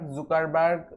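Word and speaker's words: Zuckerberg: তৈরি করেছে mark জাকারবার্গ জুকারবার্গ যাই বলেন স্থান কালভেদে এর উচ্চারণটা বিভিন্ন সময় বিভিন্ন রকম করা হয়ে থাকে বিভিন্ন জায়গায় কেউ জুকারবার্গ বলে কেউ জাকারবার্গ বাট আপনাদের যেটা ইচ্ছে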